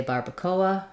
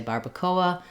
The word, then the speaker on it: barbacoa: just point out that in English we tend to say Barbacoa and the Spanish pronunciation is different so you would have